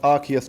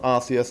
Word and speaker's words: Arceus: know unless you're trying technically it's pronounced Arceus not Arceus and I'm saying that